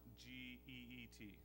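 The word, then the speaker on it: Kit: Well, let me introduce you to Geet. It's spelled K-I-T, but it's pronounced G-E-E-T.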